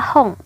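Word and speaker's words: 本: Terus ini ada untuk long things atau benda-benda yang panjang seperti pensil, itu satuannya adalah hong. Hong ini bisa berubah bunyi menjadi pong ataupun bong tergantung kanji angkanya nih.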